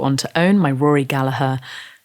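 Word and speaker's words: Gallagher: to own my Rory galaher definitely pronounced galaha Custom Shop Strat the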